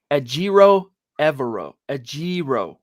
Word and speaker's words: Ejiro Evero: out for us in the media, how to pronounce names that might be a little more tricky than at first glance anyway. Ejiro Evero.